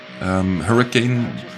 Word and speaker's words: Huracan: Hurricane, but Huracan is how it's spelled.